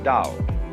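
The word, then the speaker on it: 道: If there were an apostrophe after the T, you would pronounce it Tao. But if there is no apostrophe, you pronounce it Dao.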